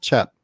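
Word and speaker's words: CHEP: about pallets you're blue cheap pellets they're not cheap they're called chap um although it's spelt like cheap anyway um those are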